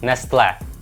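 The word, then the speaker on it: Nestlé: корпорацію змогла купити неestле що цікаво наголос на останні склад неestle або вже глянемо 2007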